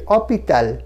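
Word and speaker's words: hôpital: পরের যেটা ও, এটা হসপিটাল, তার থেকে আমরা উচ্চারণে আসছি, ফরাসি উচ্চারণে আসছি অপিতাল, ও এর মাথায় ঠিক HOS, এসটা ড্রপ করা আছে, ও এর মাথায় দেখুন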